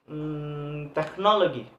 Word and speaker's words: technology: For example, word technology. When pronounce this word, the stress we must put on the third syllable to the last one. So technology. Now have a stress.